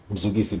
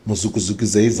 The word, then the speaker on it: Mzukisi: I think my name is easy to pronounce, Mzukisi, but then apparently it's not. Some people call Mzukisi, Mzukuzukuzei.